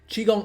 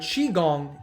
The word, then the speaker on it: Qigong: Taoism is spelled with a T, but it's pronounced with a D, Taoism, and Qigong is spelled with a Q, but it's obviously pronounced Qi.